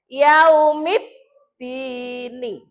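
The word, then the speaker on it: يَوْمِ الدِّينِ: Berarti cara membacanya ini alif lam itu lebur. Lebur itu dianggap tidak ada, langsung masuk ke dal. Yaumid dini.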